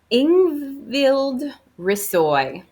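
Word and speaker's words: Ingvild Rishøi: Ingvild Rissoy. So I don't think you pronounce the H.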